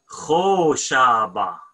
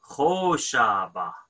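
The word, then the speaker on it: ܚܕܒܫܒܐ: Kho Shaba. Dalat is silent, right? Kho Shaba.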